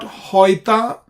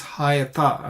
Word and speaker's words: Hayata: This is not Hoita, this is Hayata, and well known, we pronounce it Hayata.